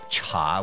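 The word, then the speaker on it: 茶: It would be a slight adaptation of TU with just a single minor difference and its pronunciation. Cha would most likely be influenced by la, the original word in Yunan.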